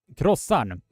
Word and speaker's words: croissant: It is croissant. Krossan. Croissant.